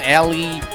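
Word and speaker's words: Elly: Okay, we have here Ellie, which, well, Isn't it Ellen? I assume everyone here is that actually how you pronounce her? Ellie. It's literally Ellie, like a westerny name like this, Ellie.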